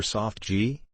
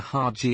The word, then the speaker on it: GIF: creator says it is was it a hard or soft g soft g as in chiffon might it's not a hard g as in give me your load at least that's